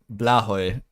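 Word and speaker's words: Blåhaj: How is Blahaj? Apparently it's pronounced like Blahoy.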